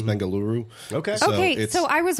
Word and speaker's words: Bengaluru: find that like uh we say Bangalore but it's Bengaluru okay okay so I